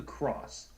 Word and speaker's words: XROS: Vaporesso did it with the cross, which is, this is what they've said from Vaporesso themselves. It's the cross. It's the cross vape pen.